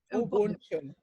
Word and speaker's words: Ubuntu: Ubuntu. It's kind of like the magic of that. And can you talk a little bit about that? So Ubuntu is an ancient African philosophy. We literally translated Ubuntu, Ngamuntu, Ngabantu says, a person is only a